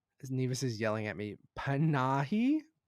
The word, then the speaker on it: Panahi: Panahi? How do you say it? Panahi.